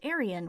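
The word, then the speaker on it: Arriane: As the instructor is dismissing them from orientation, Arian, which her name is pronounced Arian, which is a terrible name, Arian comes in, gives the instructor some sass, and is volunteered to show Luce around.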